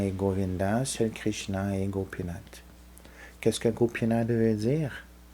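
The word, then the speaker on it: Gopinātha: veut dire Goupi alors gopinata gopinate parce qu'on prononce pas le a à la fin la plupart du temps pas toujours comme dans Govinda on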